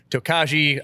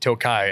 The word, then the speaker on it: Tokaji: to follow suit with how they pronounce it where it's made in Hungary and the videos that I could find on it they were they all pronounced it Tokai and so um I